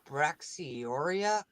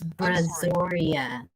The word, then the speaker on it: Brazoria: west north south southern braxioria county where the what where did you guys come up with these names how the hell do you pronounce that it's brazoria brazoria county holy crap what really